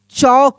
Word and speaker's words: chalk: अगर यहाँ पे लिखा रहता CHALK, तो इसको हम लोग पढ़ेंगे चौक। क्या पढ़ेंगे? चौक पढ़ेंगे, चौक, ऐसे चौक। तो इसमें भी एल क्या है? साइलेंट है। एल को पढ़ेंगे ही नहीं, एल को नहीं पढ़ेंगे हम लोग। क्या पढ़ेंगे? इसको चौक, यानी एल साइलेंट लेटर है।